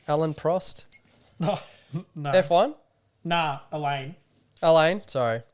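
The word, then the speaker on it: Alain: Nah, Elaine. Elaine, sorry. Well, like, it's spelled Elaine. A-L-A-I-N. No, I think that's how they pronounce it.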